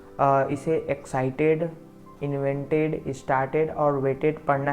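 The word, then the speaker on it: excited: देखिए यहाँ पे जब इंग्लिश वर्ड के अंत में टी व डी के बाद ईडी लगा हो तो उसे हमें ईड की तरह प्रोनाउंस या उच्चारण करना है।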